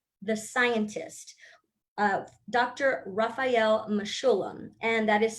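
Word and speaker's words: Mechoulam: and look up the scientist of dr rafael mashulem and that is spelled m-e-c-h-o-u-l-a-m and no it's not the song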